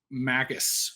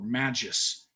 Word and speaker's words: Magus: uh thanks Josh uh Tempest Magus or Magis how do you say it do you say softer your heart G here um you know I think honestly either way is like acceptable but I'm curious you